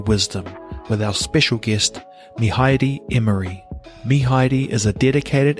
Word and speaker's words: Mihaere: Bro, just before we start, help this half Palangi guy with pronunciation, please, of your first name. Mihaere. Mihaere.